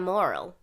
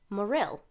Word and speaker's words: Morril: sam okay so i i call him sam moral yeah but the guy who introduced him on stage said morill did you catch that i did and i was like oh i've been saying it wrong this whole time so uh sam morril